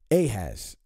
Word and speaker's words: Ahaz: There's no J or E. All right. So it would have been Ahaz.